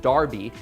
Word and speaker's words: Derby: This dates back to the original Derby, pronounced Derby, in England in 1780,